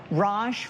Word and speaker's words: Raj: Raj rhymes with posh, which means classy and stylish.